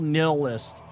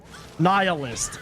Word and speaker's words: nihilist: He was a total nilist. Nihilist. That's how you pronounce it.